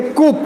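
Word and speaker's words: coup: कूप, वहां पे एक वर्ड यूज हुआ है कूप, ये है आकस्मिक शासन परिवर्तन की कोशिश। ये कूप मीनिंग समझना, इसको कू बोलते हैं, कू मतलब इसमें पी साइलेंट होता है।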